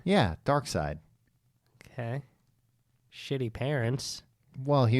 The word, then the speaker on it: Darkseid: He's like Darkseid's uncle, I think.